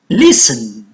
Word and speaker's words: listen: Listen. Listen. E is silent.